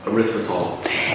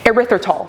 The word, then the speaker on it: erythritol: sucralose or erythema can't even how do you pronounce it erythritol erythritol oh snap bring it back so you can